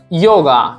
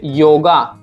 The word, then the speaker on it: yoga: And Y also have three sound like ya, ja, ya also, ja also, and sha also. Ya in Spain, ja in Mexico, sha in Argentina. Okay, like yoga. So in Spain we will say yoga.